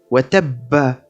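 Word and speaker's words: وَتَبَّ: Comme par exemple le verset qui s'écrit Watabba. Il sera alors lu en cas d'arrêt Watab.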